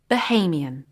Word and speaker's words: Bahamian: us how it's pronounced we can see that the second vowel sound is different in the adjective from the noun you can find out how to pronounce any of the head words in the dictionary using the phonetic transcriptions or by listening to the digital versions so the adjective is pronounced Bahamian what we usually look for